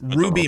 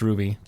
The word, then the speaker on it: RWBY: hey uh i just found out that it's pronounced ruby merlin not rwby i actually saw something about